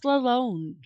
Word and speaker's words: Lalonde: I think it's French. In French, the on sound is on. No, actually, it's on. It's on in French. Lalonde, which that makes sense.